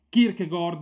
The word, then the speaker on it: Kierkegaard: parleremo proprio di kierkegaard alcuni lo pronunciano kierkegaard alla Danese Ma noi ci atterremo alla pronuncia scorretta potremmo dirgli kierkegaard che